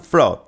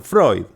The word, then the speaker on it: Freud: se viralizó y dice los ignorantes pronuncian frod para ponerle peros o aplaudirle los bien informados pronuncian Freud Y yo sin embargo pronuncio frud fraude bien bueno Esto fue